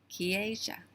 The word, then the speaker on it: Keisha: And so I remember by thinking of Key and Asia, like where China is. Asia. Keisha.